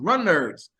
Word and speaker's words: Runnerds: today it was like yes it's pronounced Runners yeah you know seen